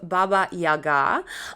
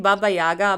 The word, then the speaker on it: Baba Yaga: So first up we have this chicken leg hut that is a home of Baba Yaga. I'm always saying Baba Yaga, but actually the right pronunciation is Baba Yaga.